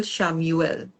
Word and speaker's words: Chamuel: govern next one is Archangel Shamuel. Yes. So it's spelled as Chamuel, Hmm. Shamuel.